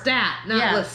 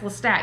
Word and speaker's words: Lestat: were really listening to stat yeah it's lestat you got his name wrong he starts getting pissed